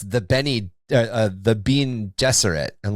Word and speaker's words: Gesserit: And you'll get people that will be like, no, it's the Bene Gesserit. And like, why would it be Gesserit? It's Gesserit. Why are you pronouncing it?